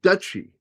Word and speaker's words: duchy: Duchy is pronounced like Dutchy. Dutchy is always correct.